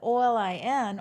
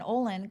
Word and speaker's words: Olin: And the Olin, Olin, comes from the very middle of Caroline.